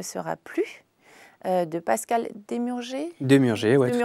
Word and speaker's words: Demurger: Demurger, oui, tout à fait. Demurger, c'est bien, ça se prononce.